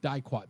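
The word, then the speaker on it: diquat: You know, it's not a long I if it's followed by a consonant and then a vowel, even if it's UO. It's not die, it's D.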